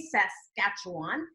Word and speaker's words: Saskatchewan: very few Americans that know how to say Saskatchewan and here I'm pronouncing it correctly close man great so substantial